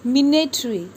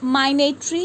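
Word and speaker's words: minatory: Next word which we have included here is मिनेटरी, मिनेटरी। सो मिनेटरी, we will not pronounce माइनेटरी और something else.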